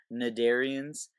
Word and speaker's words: cnidarian: up next are the mid Aryans the see is actually silent you don't pronounce it or anything it's just nod Aryans and the most common